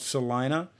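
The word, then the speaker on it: Celina: It's called Salina. It's spelled with C-E-L-I-N-A, and it's north of Dayton and south of Lima, which is where Joe Henderson is from, Lima, Ohio.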